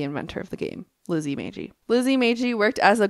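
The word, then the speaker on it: Magie: you spell it m-a-g-i I say Meiji right it doesn't look like it'd be Meiji Monopoly the gift of the Maggie the hard G sound okay Lizzy Meiji in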